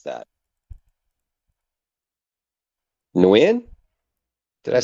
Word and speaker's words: Nguyen: Nguyen? Did I Mm, say it right? new I in. think the G is actually silent. I think it's new in.